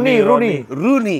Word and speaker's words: Rooney: Roni mah. Yang orang Inggris. Roni salah dia. Salah. Rooney. O-nya 2. Ya Rooney Iya, bacanya. Rooney. Rooney. O-nya 2 tuh bukan jadi O gitu kan gitu.